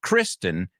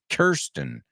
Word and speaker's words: Kirsten: It's not Kristen, it's Kirsten. I don't think it's Kirsten.